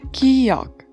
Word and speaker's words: 기역: The first consonant is 기역, 기역, and it has a sound of K or G. It sounds more like between K and G sound.